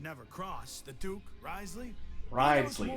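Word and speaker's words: Wriothesley: Risley, that's how you say it.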